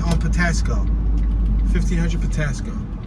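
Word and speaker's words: Patapsco: Let's make this right on Patasco. 1500 Patasco. Which is spelled Patasco with a P, but I believe the P is silent.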